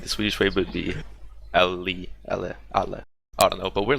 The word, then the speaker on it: alle: alle? alle. Like Ali, the English Ali. Okay. I can get behind that. It's easy. Yeah? I don't know. I think the Swedish way would be alle.